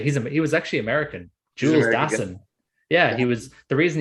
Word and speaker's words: Dassin: Jules Dassin, exactly how Mark Hellinger, which I will talk about fucking Mark Hellinger.